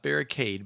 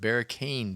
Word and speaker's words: Barricane: santelle Island third barricane Beach not barricade but barricane Beach in in the UK